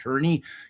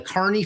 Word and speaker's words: Kearney: going to read it Carney cuz for whatever reason, the Carney family decided not to pronounce their name the way it's spelled.